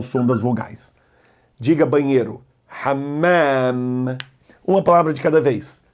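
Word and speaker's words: حمّام: Segura a primeira, ham, e lê a segunda, hammam. E lembre-se, esse risquinho é para esticar o som das vogais. Diga banheiro, hammam.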